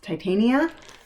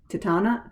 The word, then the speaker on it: Titania: mirabelia and i i heard it pronounced titania um i would have said tetana titana tanya but titania for some reason comes off the tongue more easily now um so this i